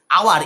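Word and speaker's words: hour: কেন বসালাম, দেখো আওয়ার, এইচ ও ইউ আর, এই আওয়ার শব্দটা, আওয়ার শব্দটা কি দিয়ে শুরু হয়েছে, এইচ দিয়ে, এইচ দিয়ে শুরু হলে তার উচ্চ, এইচটা হচ্ছে কনসোনেন্ট, অথচ সেটার উচ্চারণটা কিসের মতো হচ্ছে, আওয়ার, আ, আ মানেই হচ্ছে কি, সেটা ভাওয়েল, ভাওয়েলের মতো উচ্চারণটা হচ্ছে, তাই শুরু হয়েছে কনসোনেন্ট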